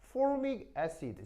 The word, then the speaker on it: formic acid: 근데 영어식 표현은 자 발음 한번 해볼까요? formic acid 시작.